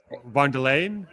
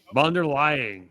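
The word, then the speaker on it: von der Leyen: Let's go ahead and take a look at Ursula Vanderlayan. She just arrived. No, no, no. You you mispronounced that. How did I Vanderlain? Vanderlane. No. Vanderly lying. Vander lying.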